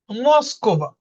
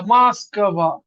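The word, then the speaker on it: Москва: দেখা দিছে খারা উচ্চারণের সময় এর মত যেমন মসকবা এখানে উচ্চারণ ও কিন্তু এখানে কাবার উপর জোর পড়ে গেছে মাসকবা লাস্টের তিনটা ওয়ার্ড কিন্তু খুব ইজিলি বোঝা যাচ্ছে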